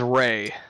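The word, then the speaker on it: Rae: His name is Ray. Ray. Okay. William Yeah. Johnson. Ugh. No. Yeah, I It's invoke Ray, some but horrible it's spelled- memories. But it's spelled with an E. R-A-E.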